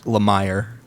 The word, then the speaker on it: Lemire: It's Lemire.